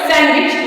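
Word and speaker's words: sandwich: यहां पे है सच इसको हम सैंडविच नहीं पढ़ते जी हां भा खाने वाला सैंडविच वो सैंडविच बोला जाता है क्योंकि इसमें डी साइलेंट होता है अब कौन से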